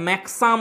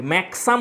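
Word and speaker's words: maxim: ম্যাক্সাম হচ্ছে আসলে ম্যাক্সিম। Country সাইডের উচ্চারণ একটু আলাদা আলাদা, দেখতেই পাচ্ছি উচ্চারণগুলো একটু অন্যরকম করছে। বিকজকে আমরা দেখতে পেলাম একটু আগে কি বলছিল, বিকেজ বলছিল, তাই না, ইজকে বিজ বলছে। তাহলে এখানে দেখো ম্যাক্সিমকে বলছে ম্যাক্সাম।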